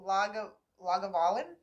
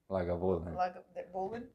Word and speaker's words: Lagavulin: Oh well, thank you for the pronunciation, Tyler. How you say it? Lagavulin. Lagavulin.